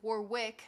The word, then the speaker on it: Warwick: Well, sorry, Land graduated from the University of Warwick. I'm pronouncing the extra W on purpose because I'm North American.